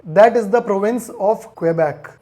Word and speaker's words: Quebec: is the province of Quebec it is a French name and pronounced as Quebec by the French but why this state